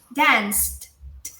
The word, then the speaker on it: danced: Então, ó, gente, danced. O D é também é um sonzinho meio soprado, ó. T, você vai fazer meio que um sorriso e soprar um pouquinho, ó.